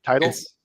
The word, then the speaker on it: Titel: of your last name titles it's title yeah title I I figured whichever